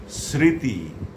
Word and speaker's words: স্মৃতি: যদি শব্দের প্রথম ব্যঞ্জন বর্ণের সঙ্গে মফলা যুক্ত থাকে তাহলে তার কোনো উচ্চারণ হয় না।